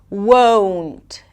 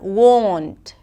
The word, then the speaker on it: won't: 'wown't' and not 'won't'.